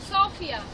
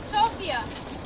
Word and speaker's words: Sofia: is sophia the name of our city is pronounced sofia sophia sofia it changed somewhere down the line but i